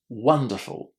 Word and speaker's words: wonderful: What did you hear? Was it an o or an a? Wonderful. A short a sound just as in the word oven.